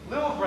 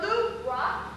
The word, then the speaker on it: Louvre: It's pronounced Louvre. Louvre, that's how much you know. In the Louvre, he struck a match across the Van Gogh.